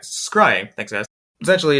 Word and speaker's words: scrying: scry scry is that is that how you pronounce it yes all right scrying thanks guys essentially it's there kind of kind